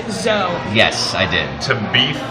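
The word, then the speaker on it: Zoë: And umlaut is what makes the name Zoe with that hard E.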